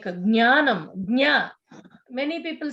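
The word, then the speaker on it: ज्ञानम्: like jnanam, jna. Many people say gya. It is wrong, no? Yeah, Jnanam. Jna only should come.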